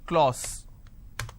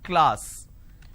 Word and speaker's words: class: right say for example the word class lot of people pronounce this as claus it's not claus it's class so i have ka le ah sir class this is how it's pronounced but people make a